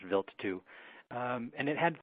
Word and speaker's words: Wild: It's spelled wild, W-I-L-D, but it's pronounced Wild 2.